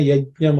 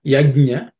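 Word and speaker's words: यज्ञ: As in different people pronounce it Some people pronounce it like ya, ugh, nya, yagna. Which is not correct.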